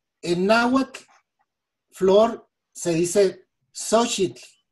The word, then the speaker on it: Xóchitl: Por ejemplo, en náhuatl, flor se dice Xochitl y se pronuncia con la parte de arriba nada más, Xochitl.